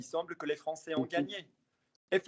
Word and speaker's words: gagné: Il semble que les Français ont gagné. What's the last word? Gagné. Would that be Gagn there? Yes. Would that be pronounced? Gagné.